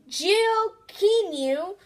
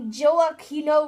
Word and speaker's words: Gioachino: So if you have troubles saying Gioachino Rossini's name, just so you know, Gioachino is actually the Italian version of the name Joachim. So it's spelled like this.